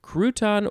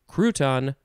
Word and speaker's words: crouton: uh you know what it's just emphasizing either syllable that's all it is crouton crouton not sure if